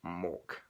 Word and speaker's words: Mork: Despite confusion with the name, it's not meant to be Merk, which is spelled the same but with an accent on the O. which is the Norwegian word for dark. It is just Mork.